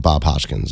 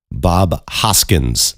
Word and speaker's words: Bob Hoskins: Uh John Leguisamo and Bob Hodkins.